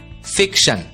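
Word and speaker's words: fiction: अगला शब्द देखते हैं शब्द है एफ आई सी टी आई ओ एन ध्यान दीजिए टी आई ओ एन की आवाज होती है शन और इसलिए एफ आई सी टी आई ओ एन का उच्चारण होगा फिक श फिक्शन अगला शब्द देखते हैं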